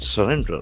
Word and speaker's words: surrender: Will not surrender. S U R R E N D E R. This is another beautiful verb. Surrender. Surrender. Here action fors on the second syllable.